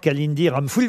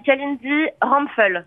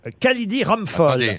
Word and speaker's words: Kalindi Ramphoul: Eh bien non, vous l'avez écorché malheureusement Laurent, mais c'est pas grave, je vous pardonne. Comment? On dit Kalindi Ramphoul. Kalindi Ramphoul.